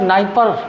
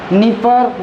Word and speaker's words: नीपर: capital of लॉ of Ukraine situated on the bank of we river नाइपर D silent है ना नीपर नाइपर लिख दे एक ही है ठीक नाइपर नदी है